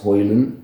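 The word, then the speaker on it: Højlund: the introduction of Rasmus hoyland that's how you pronounce his name or that's how he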